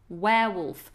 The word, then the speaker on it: werewolf: of the words werewolf werewolf a man that turns into a wolf on the full moon is a werewolf it's like the same as to wear your clothes a werewolf and you've